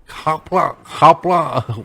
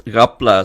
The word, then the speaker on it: Rapla: So the way we pronounce the R sound is it sounds Ra, you know, and that's how in Penang, right up to Perlis and all that, you hear people pronouncing the R tone like that.